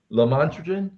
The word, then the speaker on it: lamotrigine: It is phonetically lamotrigine.